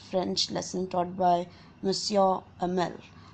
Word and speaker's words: Hamel: lesson taught by Monsieur Hamel, which is spelled with an H but pronounced with an A.